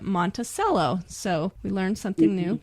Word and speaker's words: Monticello: was teasing him about it's spelled monello like you would you know Thomas Jefferson's home monello but in Utah they say it Montello so we learned something